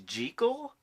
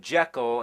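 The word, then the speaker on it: Jekyll: You know that the proper pronunciation is gel?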